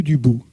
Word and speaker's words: Dubout: Euh toutefois, je le précise, euh je suis donc sur Facebook avec un allias qui s'appelle Bou du bout, Serge Bouubout.